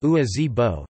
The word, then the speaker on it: Ngua-ze-bo: From 1924 to 1930, a Lisu farmer called Ngua Zibo, pronounced Ua Zibo, Chinese, Wang Ren Bo Wa Ren Bo, invented the Lisu syllabary from Chinese script, Dongba script, and Geba script.